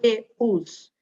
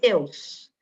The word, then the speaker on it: Deus: que acha que a palavrinha Deus tem duas sílabas não é eu não falo assim Deus eu falo tudo junto Deus então Deus tem uma única sílaba tá que a os